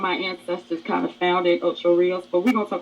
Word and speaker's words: Ocho Rios: They ready to go to Ocho Rios, which Natalie says Ocho Rios. That's not the right pronunciation. It's Spanish for 8 rivers. Okay, so it's Ocho Rios. All right, but anyway. Yep, roll it a tongue. Roll it, Rios.